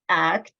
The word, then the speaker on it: ACT: to treatments next slide um so act is pronounced act um it was originally developed by Stephen Hayes